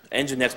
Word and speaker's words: Nginx: Nginx, by the way, is spelled N-G-I-N-X, and Light HTTPD.